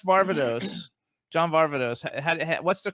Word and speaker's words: Varvatos: How do you pronounce Varvatos? John Varvatos.